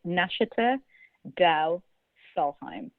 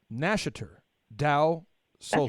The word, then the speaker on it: Nashater Deu Solheim: It isn't easy to pronounce. It's Nashater Deu Solheim. Nashater Deu Solheim.